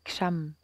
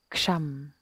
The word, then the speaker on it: Ksham: Et le son qui correspond à Anya, c'est Ksham, avec un K et un Sh. Ksham.